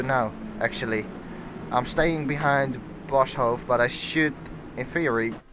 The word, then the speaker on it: Boshoff: Now it says Jorik Boshoff. That's how you call it in. That's how you pronounce it in Dutch, because it's a Dutchman, but I hope you guys know who I mean.